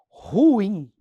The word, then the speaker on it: ruim: Ruim. Felipe, qual que é o correto? É ruim ou ruim? Ruim. É um hiato, pessoal. A gente fala como se fosse monossílabo.